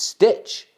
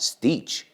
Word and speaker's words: Stitch: It's Stitch. It's not Stitch. Bueno, a lo mejor en español le llaman Stitch, pero como es americana, pues vamos con el título original, Stitch. Es ese sonido, not I.